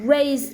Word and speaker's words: raise: To raise my hand, because it will be, even though spell with the S, if pronounced voice Z.